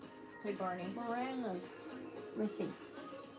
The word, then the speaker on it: Moranis: It was Rick Morissette. Played Barney. Moranis. Let me see. Spell it.